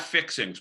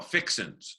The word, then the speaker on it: fixings: Not fixings, Paul. Fixins. There's no G in it.